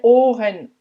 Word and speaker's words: Ohr: Et c'est bien Ohr, c'est un long O puisqu'il est rallongé par le H, Ohr, et le R à la fin se prononce presque comme un A dans plein de mots déjà en allemand, je t'ai déjà souvent